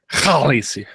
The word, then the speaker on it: Khaleesi: Khaleesi. Like k and h Get some are phlegm going. different phonemes in Dothraki. Yeah. Khaleesi.